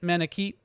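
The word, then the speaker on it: Manakete: my recommendation keep oh it's it's keat manikeet that makes sense i love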